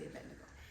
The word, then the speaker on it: Abednego: Some people pronounce it differently. And Azariah he called Abednego. Some say Abedo, but I say Abednego.